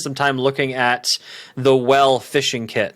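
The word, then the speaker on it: W3LL: time looking at the well fishing kit now well is spelled W3 LL I believe I'm saying it right you'll have to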